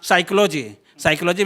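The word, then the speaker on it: psychology: कोई मतलब इस तरह से किसी भी ध्वनि को हम बोल सकते हैं, लेकिन वहाँ उनके यहाँ साइकोलॉजी में पी साइलेंट होता है उनके यहाँ।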